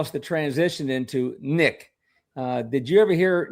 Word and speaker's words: NIC: At Marine Corps recruit Depo Paris Island, we referred to new drill instructors as Nick, pronounced NIC K, but spelled NIC.